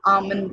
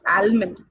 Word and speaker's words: almond: Actually, it is silent. Okay, we have to say it's almond, not almond.